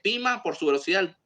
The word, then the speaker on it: Poema: So para Scotty, definitivamente Poema por su Pima. Pima is the pronunciation, it's a Greek word.